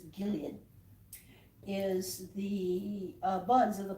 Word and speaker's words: Gilead: ask for balm of Gilad, what you get is, and you even get a different pronunciation. In English it's Gilead, is the buds of